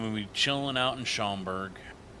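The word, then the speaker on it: Schaumburg: One month and we'll be chilling out in Shamberg. I think Simstar was calling it Chamomberg. I did want to correct them. He was pronouncing it wrong.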